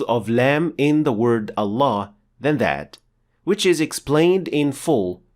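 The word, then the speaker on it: الله: the most honored word Allah when starting at the word Allah Lam will be pronounced slightly differently from all other words in Arabic specifically it will be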